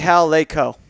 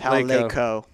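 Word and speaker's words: Laycoe: Oh, no, it's actually Hal Laco. That's how it's pronounced. Hal Laco.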